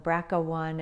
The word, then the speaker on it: BRCA: there's one and two some people call them bracha-1 and bracha two the way it's spelled is all capital letters b r c a one or two so these are the